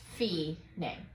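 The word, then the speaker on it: Fine: above it says finae spelled f-i-n-e uh pronounced fee name all right so uh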